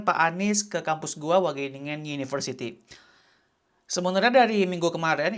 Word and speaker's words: Wageningen: Pronunciation-nya gimana? Ada kolom-kolomnya Pak. Wageningen. Wageningen.